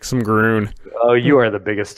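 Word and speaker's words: Grunn: of the set really I really like some Grune oh you are the biggest Timmy oh yeah it looks like it is pronounced grun grun Oh fine you're no fun I mean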